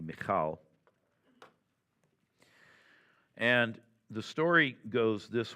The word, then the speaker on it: Michal: Most Americans say Michael, but proper Hebrew would be Michal.